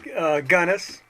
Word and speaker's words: Gunness: This week our guest is Dave Gunness. Did I pronounce that right, Dave?